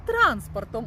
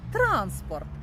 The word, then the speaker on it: транспорт: Тож транспорт. Наголос на перший склад - це засіб для перевезення, чи то людей, чи то багажу. А транспорт - це банківський термін. Це дійсно пересування грошей в межах банку.